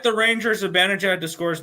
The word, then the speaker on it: Zibanejad: Zibanejad to record an assist.